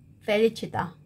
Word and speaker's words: Felicità: Felicita 이게 취 이거는요 발음이 영어 사전에서 보면 이런 발음 있잖아요. 취 이런 소리 발음입니다.